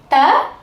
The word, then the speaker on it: த: பார்க்கலாம் இந்த வரைபடத்தை பாருங்க நாக்கின் நுனிப்பகுதி மேல் பல்லின் அடிப்பகுதியை பொருந்தி இருக்கு இல்லையா இப்போ நம்மோட நாக்கின் நுனியைக் கொண்டு மேல் பல்லின் பகுதியை பொருந்துமாறு வைக்கணும் வைங்க இப்படி வச்சிட்டு நம்ம உச்சரிச்சோம்னா இந்த த வந்துடும் இப்போ எல்லாரும் நாக்கின் நுனி